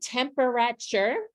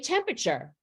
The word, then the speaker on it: temperature: So do we say temperature? We surely do not. We say temperature. This is an example of sometimes in words, we have syllables in print that we don't say. They kind of pop out of the word and we don't say them orally.